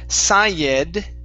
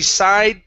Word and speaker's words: sighed: Okay, so instead of Sayed, okay, this is an ed ending. That ed is pronounced d. Okay, so she sighed deeply.